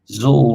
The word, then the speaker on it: Zool: Zool rhymes with rule.